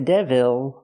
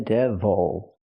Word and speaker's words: devil: he is the devil not the devil but the devil use the close sound again the stress is on the first syllable this is the devil if I use the